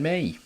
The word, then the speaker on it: Mee: Now we're seeing Ben Mee. As I say, they should be sent off. Rhymes with knee.